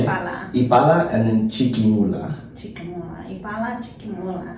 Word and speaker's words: Chiquimula: So how do you pronounce that? Ipala. Ipala? Ipala, I-P-A-L-A. Ipala. Ipala, and then Chiquimula. Ipala, Chiquimula. Chiquimula.